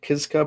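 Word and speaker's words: Kiszka: It looks like Kiska, but I think it's a Kiska.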